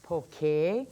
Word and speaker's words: poke: So first of all, I noticed that a lot of people in the mainland pronounce it poke. It's poke.